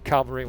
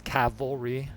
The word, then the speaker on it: cavalry: it correctly very often it's Cavalry and I often say it calvary I just bu with